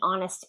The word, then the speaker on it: honest: or the honest answer. The honest answer. So, this is silent H, sounds like a vowel, we say the.